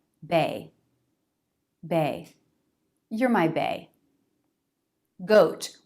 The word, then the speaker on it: GOAT: you're my bae goat we have another diphthong two positions jaw drop and lip rounding o o goat goat now the ending tea pronunciation can be a true tea goat or a stop tea goat goat goat goat make